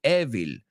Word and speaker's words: evil: I've heard it mispronounced a lot, so make sure you don't say evil.